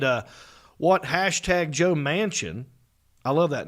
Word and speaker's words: Manchin: like the last name i know it's spelled different but you hear the word mansion you think oh this